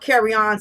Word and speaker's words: carrion: carcass because it's just easier for me to pronounce but it's called carry on c-a-r-r-i-o-n is the decaying flesh of dead animals